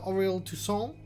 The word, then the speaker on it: Aurel Toussaint: The Professor Aurel Toussaint. That's how you pronounce that. It's French.